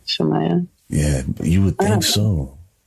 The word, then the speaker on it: Shemaiah: It's like it phonetically sounds like it's spelled Shemaiah.